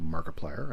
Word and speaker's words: Markiplier: is on twitter as markiplier and that is spelled m-a-r-k-i-p-l-i-e-r it's like multiplier except mark wade barnes is